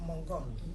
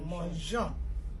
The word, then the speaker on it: mangeons: also the pronunciation, because we don't want to hear the sound mongon. We don't put the E, it will sound like mongon. But we have to retain that pronunciation, je, manger. So mangeons.